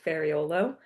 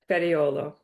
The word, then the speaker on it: Ferraiuolo: So, you didn't because that's how we would say it the Americanized way. Folo.